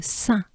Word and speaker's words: Saint: count, so you probably know the number 1. Un. And here it goes into Saint. Let's take a good breath and we can pronounce it together.